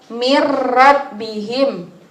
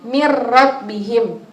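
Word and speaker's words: مِنْ رَبِّهِمْ: itu tulisannya Min rabbihim Nah itu caranya langsung dimasukkan tapi tidak mendengung berarti gimana caranya yang benar yang satu atau dua satu atau dua Satu karena memasukkan tapi tidak mendengung jadi mirrobbihim wamalam atau mungkin bacanya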